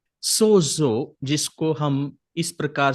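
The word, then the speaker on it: σώζω: it's a Greek word, and which actually is pronounced sozo. सोजो, जिसको हम इस प्रकार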